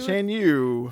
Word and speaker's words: Shan Yu: I hope I pronounce this one right. Shan Shan Yu? Is Oh, Shan Yu? Shan Yu.